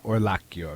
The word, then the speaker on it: Orlacchio: hello hi okay my guest is Alexis uh or laio right how do you how you pronounce it perfect okay excellent and Alexis is